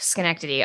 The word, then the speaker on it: Schenectady: Oof, Schenectady.